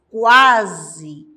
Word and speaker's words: quase: o a quando nós falamos quase nós pronunciamos todas as letras nesse caso não H